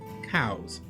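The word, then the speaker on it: Coues: this one it's elliott cows spelled c-o-u-e-s but pronounced by his family cows in 1863 cows became a surgeon in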